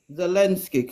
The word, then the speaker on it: Zelensky: You pronounce the V? Z. You said it. You said it. Go on again. Zelensky. Zelensky. Zelensky, correct. The president of Ukraine, Zelensky, will resign and Ukraine will go to NATO.